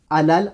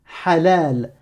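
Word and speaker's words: حلال: Si tu me prononces que la voyelle, si tu me dis A comme Hajj, Alouf, Aram, Halal, Hakim, là c'est pas bon.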